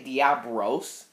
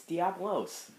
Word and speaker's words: Diablos: the heck Yep this did you just say diabos I'm sorry I have to rein I just yeah he said diab Bros it's Diablos Diablos even pronounce Diablos I